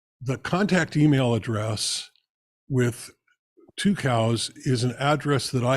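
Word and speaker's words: Tucows: that name I'm sorry two cows okay it's pronounced two cows and their logo for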